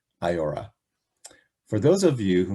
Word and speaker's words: IAOHRA: rights agencies we usually refer to it by its acronym and our unique pronunciation of it iora for those of you